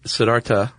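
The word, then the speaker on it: Siddhartha: The Buddha uh whose name whose original name was Sedartha Guatama. Did you know that? Actually, Sedarta. Okay. So, the H is silent.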